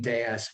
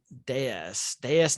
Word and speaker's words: DS: Well, the DS was otherworldly, and the name DS, when you pronounce it that way, it's a pun on the French word for goddess.